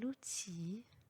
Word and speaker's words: outil: Il y a des exceptions pour les fins des mots où le L n'est pas prononcé. Exemple, fusil, un outil, un fils.